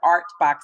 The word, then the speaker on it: OurtBox: And then I added the T to change the pronunciation to ArtBox Cafe, because I was made aware that the cafe was once a studio for Mr.